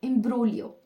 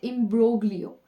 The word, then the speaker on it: imbroglio: तो first of ऑल इसमें जो जी है that is what the silent. Okay, इम्ब्रोलियो. Alright, इम्ब्रोलियो, नॉट इम्ब्रोग्लियो. सो इट इज इम्ब्रोलियो.